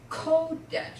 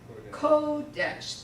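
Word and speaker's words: קודש: then the next word Holiness is kodash say it code dash the accent of both of these is the first syllable one egg and kodesh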